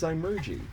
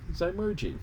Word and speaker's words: zymurgy: the canonical last word and that word is zymergy which is the process of fermentation fermentation is